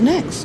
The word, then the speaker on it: next: Aham, Ela tipo sopra o T no final, né? Next. isso. Só isso. O que vocês não podem falar é next, sabe? Igual o nosso T forte do português.